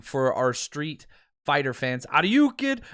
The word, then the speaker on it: Aiyuk: It's Aiyuk for our street fighter fans. Aiyuk, kid, right? Like you can get it that way, but it's pronounced I, like the eyeball, and Yuk, Y-O-O-K, Aiyuk.